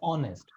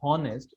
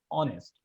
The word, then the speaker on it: honest: honest the word is honest h is silent it's not honest it's honest okay my last question